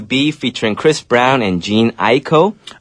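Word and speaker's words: Jhené Aiko: featuring Chris Brown and Jean Aiko. Okay. That's how you pronounce that girl name. Is it a girl guy? It is a girl. Okay. Cuz I I was like Jana Aiko. I said the name wrong many times.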